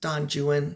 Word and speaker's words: Don Juan: It's actually pronounced Don Juan, but Don Juan.